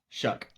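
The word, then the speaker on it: Shough: How do you pronounce that guy's name again? Tanner Sha. Shuck.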